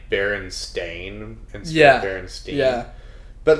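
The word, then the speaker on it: Berenstain: timeout oh yeah uh how it's like actually spelled like baron stain and yeah yeah but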